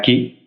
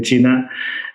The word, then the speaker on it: Qi: explicaba antes, la pronunciación china tiene diferentes tonos y esa Q se suele pronunciar más como che, como chi.